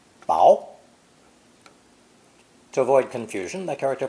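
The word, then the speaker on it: 雹: below is the character for this weather phenomenon pronounced bow to avoid confusion the character for ice ping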